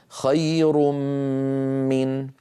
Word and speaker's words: خير من: تتابعت الضمتان على الراء، الضمة الأولى علامة أن الراء مضمومة، والضمة الثانية علامة التنوين، والميم بعدها في كلمة من جاءت مشددة، فهذا علامة الإدغام الكامل. ويكون النطق هكذا: خير من.